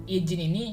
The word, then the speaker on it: izin: Seharusnya J itu diucap harus J ini izin ini harus diucapkan huruf Z bukan huruf J.